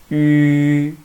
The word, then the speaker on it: 吁: First, let's pronounce 一. Then slowly change it into 吁, like this. 一 See, the last part is 吁 When we pronounce it, just keep the last part. Don't read like no. Just read 吁 Okay, I think this